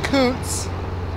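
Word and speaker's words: Kountze: town named of Kunze it's actually supposed to be Kuntz without the e but I didn't know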